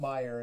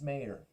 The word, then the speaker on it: Mayer: It's not Meyer, it's Mayer. Really?